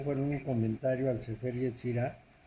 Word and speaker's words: Yetzirah: Y Yetzirah se escribe con Y y Z. TZ, Yetzirah.